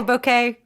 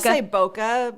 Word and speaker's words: bokeh: for bouquet yes yes how do you say that do you say bouquet bokeh but well now that I've done a video where I say it both ways I actually kind